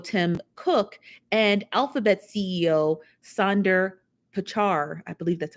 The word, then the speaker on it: Sundar Pichai: to Apple CEO Tim Cook and Alphabet CEO Sundar Pichai. I believe that's how they pronounce the name. Sundar Pichai.